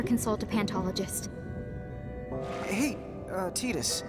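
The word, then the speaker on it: Tidus: some other time so we're to realize pronounced eatest and not Titus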